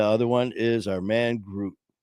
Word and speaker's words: Groot: And the other one is our man, Groot. There, I said it right. Yeah. It took him months for some reason he could not remember group and and he